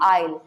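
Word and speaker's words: aisle: उसको हम बोलते हैं आयल। यहाँ आयल है, एस इसमें साइलेंट रहेगा, सो इसको हम प्रोनाउंस करेंगे आयल।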